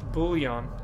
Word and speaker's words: bullion: bull is there an L in there yeah bullion yeah I dig it so the reason that